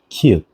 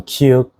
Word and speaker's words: 키읔: The next one is 키읔. So 키읔 sounds similar to English K sounds.